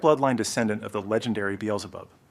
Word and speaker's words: Beelzebub: It is a direct bloodline descendant of the legendary Beelzebub. Back in Korea, we mispronounce it as Biljabop.